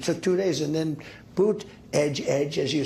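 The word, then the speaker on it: Buttigieg: in and it took two days and then boot Edge Edge as you say boot Edge Edge uh called and I guess two days late though yeah when in doubt Miss pronounced Buddha jedge that's how you do it Elon Musk who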